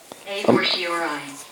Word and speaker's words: a fortiori: A fortiori. A A fortiori. It's a fortiori, yeah, that I heard, okay. Okay. But it's two before, okay. A fortiori.